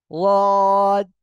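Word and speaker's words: ض: কিন্তু যেটা প্রকৃত মাখরাজ, এর উৎপত্তি স্থল, সেটা হলো জিহ্বার গোড়ার কিনারা উপরে মাড়ির দাঁতের সঙ্গে লাগিয়ে রদ উচ্চারণ হবে। আর উচ্চারণের সময় খেয়াল রাখতে হবে এই জিহ্বার আগা যেন এই দুই দাঁতের আগায়ও না লাগে, আবার কি উপরে তালুতেও না লাগে। ঠিক আছে? রদ, রদ, এভাবে উচ্চারণ করতে হবে।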